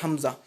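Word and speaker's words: ء: Le hamza également, c'est comme le a que nous prononçons en français.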